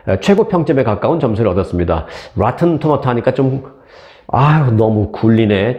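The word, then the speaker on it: Rotten Tomatoes: 진짜 굴리려면 로튼 토메이토 이런 식으로 해야 되는데, 참 이게 한국 뉴스를 하다가 가끔 영어 나오면, 이걸 어떻게 발음을 해야 되지? 고민이 되는데요. 이 정도 고민을 제가 토로했으니까 이해해 주실 걸로 알고 그냥 한국식으로 발음을 하겠습니다.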